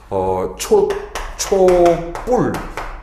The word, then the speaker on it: 촛불: 그다음에 초가 한자 오죠 초와 불이 이렇게 결합이 돼서 초뿔 이렇게 발음이 되는 경우이 경우는 또 한자와 우리말에